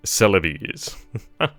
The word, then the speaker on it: Celebes: It's pronounced like a stereotypical Italian. Celebes.